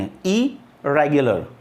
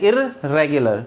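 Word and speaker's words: irregular: और एक होता है आर को प्रोनाउंस दो बार नहीं करें एक ही बार करें आई रेगुलर आपका प्रनंसीएशन सही हो जाएगा देखो लोग क्या करते हैं इरेगुलर तो रेड दो बार बोल दिया तो दो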